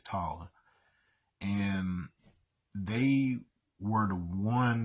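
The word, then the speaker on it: Taal: were called The Tall so t a a l um you may hear them pronounce like tail or t or something like that but that's incorrect it's taller and they were the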